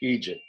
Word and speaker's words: idiot: My experience suggests to me that It's a word meaning idiots that kind of came over from the Irish, where idiot is often pronounced Eejit.